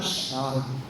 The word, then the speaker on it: Charbel: CH anong basa natin doon siya sa kanila Shar so we use they allowed us to use the letter S to pronounce it right as sharpen se or huwag